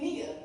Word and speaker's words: Nia: In the language Swahili, I's are often pronounced as they would be in English as an E. Some of y'all are familiar with the name Nia, N-I-A. You don't realize that you're speaking Swahili and that the I in Nia is pronounced like an E.